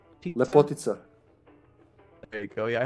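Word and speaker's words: Lepotitsa: The Lipotica? Lepotica.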